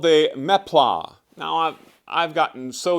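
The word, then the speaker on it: meplat: for me to say mea but that's how it's actually pronounced it's a French word I guess uh and the word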